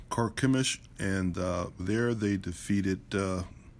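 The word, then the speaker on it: Carchemish: later to carp carp it's actually pronounced commish karkemish and there they defeated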